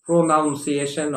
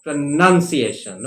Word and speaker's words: pronunciation: n c i t i o n is not pronunciation or pronunciation my dear friends it is pronunciation okay do keep that in mind pronunciation that's